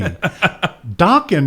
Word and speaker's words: Dokken: Dokken, however, rhymes with rockin'.